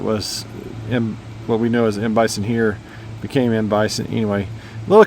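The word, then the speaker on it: M. Bison: uh they called him Mbison to rhyme with Mike Tyson, but uh then uh whenever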